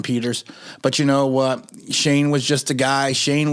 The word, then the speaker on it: Schoen: It is pronounced Shane.